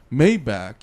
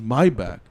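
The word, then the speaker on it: Maybach: He doesn't say my he doesn't say Mayback. He says my back like the German pronunciation.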